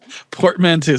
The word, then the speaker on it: portmanteau: girl she's the keeper portmanteau portman too so i was right in pronouncing it but it's still a